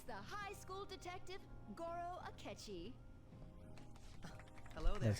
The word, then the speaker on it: Goro Akechi: It's the high school detective, Goro Akechi.